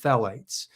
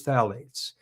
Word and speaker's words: phthalates: Then there are phalates or phthalates. I think it's pronounced phalates.